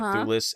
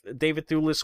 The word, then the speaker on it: Thewlis: So David Thewlis, and I believe that's how you say it, Thewlis as Ares.